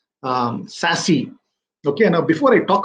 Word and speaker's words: SASE: uh secure access services it's pronounced as sassy okay now before i